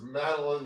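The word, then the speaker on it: Madeleine: I'd call this Madeline Langle. Madeline Langle's first name is pronounced with a long E, same as mine.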